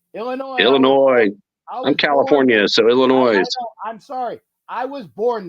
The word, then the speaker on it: Illinois: Illinois I'm California so Illinois I'm sorry I was born there it actually is Illinois you don't pronounce the S well that's like Nevada